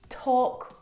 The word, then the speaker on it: talk: Words like salmon, not salmon, half, not half, would talk, walk. All of these words have a silent L in them, which makes them a little bit tricky to pronounce correctly.